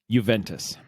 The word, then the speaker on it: Juventus: Juventus.